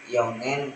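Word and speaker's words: 四年: Kemudian ditambahkan nen atau penulisan kanjinya bisa dilihat di sebelah kiri dan cara bacanya yakni yongen yang artinya 4 tahun.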